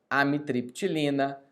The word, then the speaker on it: amitriptilina: Outra classe, pessoal, antidepressivos tricíclicos, amitriptilina, nortriptilina, imipramina. Vamos lá, pessoal, nós temos que falar certo essas medicações. Amitriptilina, nortriptilina, o P é mudo, tá?